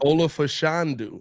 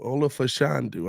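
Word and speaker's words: Olu Fashanu: have no problems with me uh uh uh pronouncing my countryman's name anymore Olaf fandu Olaf fandu all right I'm G throw that in the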